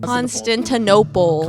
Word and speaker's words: Constantinople: Constantinople. Constantinople. Okay. Like Barnes and Noble.